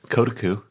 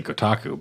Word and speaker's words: Kotaku: um ready for this kotoku because that's how I've been pronouncing it for forever I used to say Kotaku but I was wrong yeah it's true kotoku